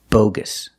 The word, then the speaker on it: bogus: we're learning this adjective bogus pronunciation long o for the first syllable B Gus Gus the second syllable is closed it's a relaxed sound bogus it's an adjective